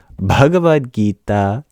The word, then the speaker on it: Bhagavad Gita: you basically sing it you explode on the first syllable Bhagavad and then sing the next word g Bhagavad gaita that's how I would